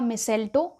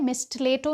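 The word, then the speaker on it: mistletoe: तो इसे जब आप प्रोनाउंस करेंगे तो इसमें टी साइलेंट होता है, इसलिए हम इसे मिसेल्टो कहते हैं। तो आपको भी इसे मिसेल्टो ही प्रोनाउंस करना है, मिस्टलेटो नहीं कहना है।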